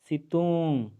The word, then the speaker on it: सितुंग: सितुंग, उसका उच्चारण निकालेंगे सितुंग।